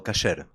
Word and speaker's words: kosher: temos um conceito, um contexto que se chama kosher. É isso? A pronúncia está certa? É kosher? Kosher ou kasher.